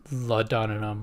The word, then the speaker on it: laudanum: Never actually thought about that, like what laudanum is actually. How do you even pronounce it?